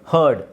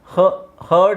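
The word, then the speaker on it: heard: wrong ಯಾರಿಗಾದರೂ ಗೊತ್ತಿದ್ರೆ ಹೇಳಿ ಹಿಯರ್ಡ್ ರಾಂಗ್ ಗುಡ್ ಹರ್ಡ್ ಇದನ್ನ ಹರ್ಡ್ ಅಂತ ಹೇಳಬೇಕು ಬೇಕು ಹರ್ಡ್ ಸೋ ಆರ್ ನ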